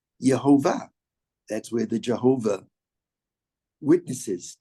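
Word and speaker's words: יהוה: Adonai. Yud, Hey, Vav, Hey. What is that? If we were to read it the way it's spelled, it's not Adonai, but it spells out Yehovah.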